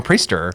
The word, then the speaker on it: Priester: learned is you know where where the the I is determines the pronunciation. And so you have both pronunciations in your name which just brings me joy that it's rhyme or pister.